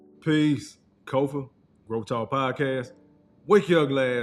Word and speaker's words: Kofa: I am your host, Kofa, K-O-F-A, not coffee, not kufu, not kofi, or any variation thereof. It's Kofa, K-O-F-A. It rhymes with sofa.